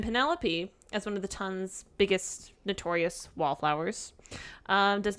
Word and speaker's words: ton: It's pronounced Tun. No. It's French.